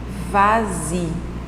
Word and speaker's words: vas-y: Regardez, parle-en, vas-y. Le S est prononcé comme Z en raison de la voyelle, en raison du son de voyelle que vous avez ensuite.